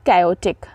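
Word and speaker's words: chaotic: रहेगा जल्दी में ठीक है next one इज कैटिक कैटिक सी एच ए ओ टी आई सी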